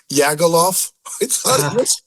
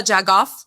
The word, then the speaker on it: jagoff: I swear I thought it was a silent J. Okay, other people thought that, too. People who have never heard it will say it like very like Swedish. Yeah, jag off.